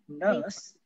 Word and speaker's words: nurse: Kalau British kan learn. R-nya enggak di... Iya kan? Refer, gitu. R-nya enggak dibaca kan, ditahan. Gitu. Nurse, gitu. Nurse.